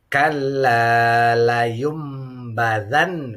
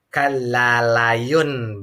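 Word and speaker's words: كَلَّا لَيُنبَذَنَّ: Iklab itu adalah nun matinya sudah hampir identik dengan pelafalan huruf mim. Jadi kalla layum badan, bukan kallalayun, bukan, tetapi kallalayum badan. Nonnya masuk ke ba seperti huruf mim.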